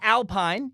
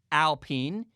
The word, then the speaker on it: Alpine: that leads me to alpine uh it's not alpine it's spelled like alpine for from america you're like huh the alpine f1 team no no no no i watched the video they clarified many times it's pronounced alpine it's a team that was formerly known as